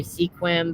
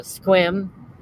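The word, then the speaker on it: Sequim: u i e m a lot of people say sequin but it's uh squim a lot of these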